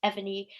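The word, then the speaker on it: Evrnu: um it's spelt e-v-r-n-u very clever and it's pronounced ebony um and they planned on creating a line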